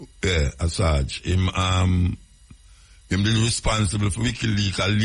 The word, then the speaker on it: Assange: Julian Assange, I saw him pronounce his name, Assange. Yeah, Assange.